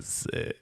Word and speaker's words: Sikh: Yo, these Punjabi Sikhs are fucking sick. Yeah. Sick. It's that's how you're supposed to pronounce it.